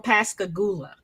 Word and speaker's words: Pascagoula: there's a mall oh yeah you're you're from Pascagoula did I even say it right yeah you